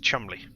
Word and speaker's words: Cholmondeley: Yes, how you pronounce the Cholmondeley is just Chumley.